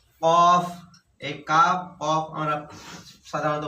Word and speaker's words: قاف: কফ, এই কাফ, কফ আমরা সাধারণত ভুল করে থাকি। কফ জবর হয় ক, আর কাফ জবর হয় কা। হ্যাঁ, তাহলে কফ, এই কফের উচ্চারণ মোটা হবে, কাফের উচ্চারণ হালকা হবে।